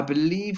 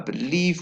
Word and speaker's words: believe: believe we should and the stress is on the second syllable of the word believe I believe we should and a